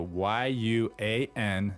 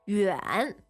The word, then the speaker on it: 远: And we say 远不远远不远 Okay, so the word for far is 远 so Y-U-A-N, third tone, Yes. means far, and it's pronounced. 远 All right, so it's not yuan, right?